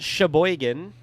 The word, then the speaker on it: Sheboygan: me it doesn't seem that bad this one's pronounced Sheboygan this is like way away go right this